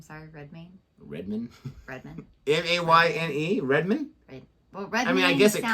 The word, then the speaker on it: Redmayne: Jennifer Lawrence shocked by Eddie Redmayne's early model photos. Say Redmayne? Redmayne? Yeah. Oh, I don't know his last name. Sorry, Redmayne. Redmayne?